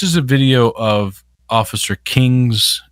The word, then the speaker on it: Kueng: Quang. Yeah, Quang. I think it's pronounced King. At least that's what I've heard in the. That's what they've been pronouncing this.